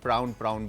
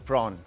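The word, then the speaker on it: prawn: प्रॉन, sorry again प्रॉन, मेरी भतीजी बोलती है चाचू आप प्राउन बोल रहे थे, अच्छा वो प्रॉन सही प्रोनाउंसिएशन।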